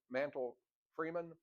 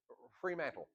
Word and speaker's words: Fremantle: Sir Arthur Mantle Freeman, how you pronounce that? Sir Arthur, the English colonel that came, Fremantle.